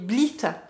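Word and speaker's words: Blithe: Gros coup de cœur hein, pour ce produit de chez Bleath. Bleath. B-L-I-T-H-E. Bah oui, le T-H-E, ça se prononce... Bon, Bleath.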